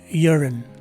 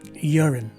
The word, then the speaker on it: urine: you will see that the stress is in the first syllable the letter u is replaced by a letter y and a sounding letter e the letter i takes a swa sound and the letter e at the end is a silent letter e so the correct